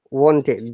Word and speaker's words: wanted: is a tricky idea this pronunciation is it one third it's wanted wa sound o then e sounds like so wanted yeah it should be sound like these guys yeah want it not one tight i wanted to go